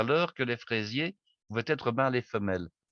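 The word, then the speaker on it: Freizier: allez me dire, mais est-ce qu'il y a un rapport entre ce monsieur Fraisier, dont le nom s'écrit F-R-E-I-Z-I-E-R, et la fraise?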